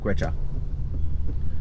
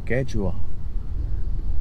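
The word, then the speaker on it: केंचुआ: मैं पता इसको क्या बोलता था, मैं इसको बोलता था क्वेचा। क्वेचा बोलता था, मुझे लगता था ये क्वेचा है, लेकिन ये क्वेचा नहीं है, ये है कैचुआ।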